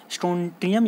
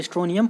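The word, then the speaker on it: Strontium: तो higher valency यानी स्ट्रोंटियम plus, T silent होता है वैसे, बोल सकते हैं हम लोग, स्ट्रोंटियम या फिर स्ट्रोनियम +2 ऐड किया जाता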